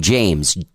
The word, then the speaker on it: JMES: She plays under the name James, and it's spelled JMES.